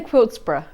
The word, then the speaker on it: Quiltburgh: I say Quiltburgh. Quiltburgh. Yeah, like Edinburgh. Like Edinburgh. Yeah. Yeah, but some people say Berg, won't they?